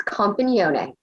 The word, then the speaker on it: Compagnone: We are first being joined by Compagnone, Am I pronouncing your last name wrong? Very close. Its Compagnone.